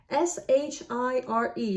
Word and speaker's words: Worcestershire: Worcester, Worcester, Shire. So that would be something like Worcestershire. And I know perfectly well that it's supposed to be Worcestershire.